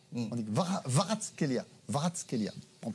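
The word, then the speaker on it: Kvaratskhelia: Normalement, on ne prononce pas le K. On dit Varatskelia.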